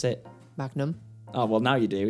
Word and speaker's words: Magnum: You pronounce it. Magnum. Oh, well, now you do. It used to be Magman.